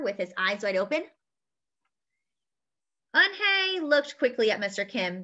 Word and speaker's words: Unhei: his eyes wide open anhei looked quickly at mr kim then turned to joey she nodded slowly yes it's pronounced anhei and it means grace mr kim said anjay joey said slowly and